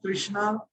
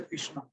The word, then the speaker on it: Krishna: R, Akarshan, that R, the name of Krishna. So we drop. We say Krishna. Krishna. So, from tomorrow onwards, when we are chanting, we should be very clear in pronouncing Krishna.